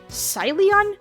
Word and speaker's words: Ceylon: how do you say Celion? Celion? I'm going with my second choice, but Google. Celon. T. Pronunciation. Salon. What? Salon tea. Salon. I was like going to the hair salon. That's how you say it.